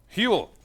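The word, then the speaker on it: Huell: Huel. That's 2 syllables. Kind of. It is 2 syllables.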